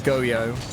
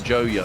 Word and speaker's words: Goyo: from oxygen as Goyo I feel like it should be pronounced Goyo rather than Goyo Goyo is in like joyo as we normally say it that's my point that normally it's joyo obviously I like with a G it just changes the natural pronunciation to Goyo yeah I think Reon